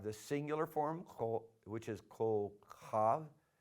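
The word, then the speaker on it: כוכב: Then for star, we have the singular form, which is kol chav. You break it down, just go kol chav, and try to get the ch in there, the guttural sound, kol chav, and then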